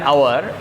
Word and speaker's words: hour: Exceptions number 1, if the sound of H remains silent or pronounces as O in Bengali, Shor O, then we should use an before the word.